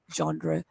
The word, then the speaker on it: genre: panic and anxiety attack genre uh actually genre is american pronunciation the british is very different it's so silent that i myself am a bit confused okay so i would